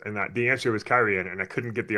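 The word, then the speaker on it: Cairhien: Because I had pronounced it like Karhane or Karheen, something like that, and that just made sense to me. And then I started hearing other people say Kyrian, and I was like, oh, that makes sense.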